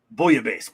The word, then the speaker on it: bouillabaisse: Bouillabaisse.